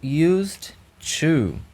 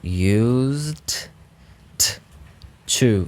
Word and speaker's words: used to: uma significação sendo o nosso penúltimo aqui o Used to e preste atenção aqui na pronúncia desse ó ó used to used to used to tem quase um nesse